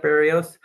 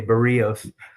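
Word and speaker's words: Berríos: Now, I like Barios. Uh, oh, people are going to say you're pronouncing his name wrong. Okay, Bereos.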